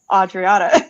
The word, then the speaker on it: Adriana: I know it's Adriana, yeah, it's funny because you're in Mexico, so the pronunciation there would be Adriana.